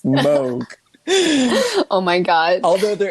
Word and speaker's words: Moog: this so at this time she met robert moog um it is pronounced i think people get mad if you say moog so i learned that i mean on the